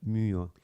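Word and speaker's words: μύω: M y o se traduce la la y es como se pronuncia como la u francesa o como la o como la u conisis alemana, ¿no? U. La muo significa entre cerrar los ojos o la boca.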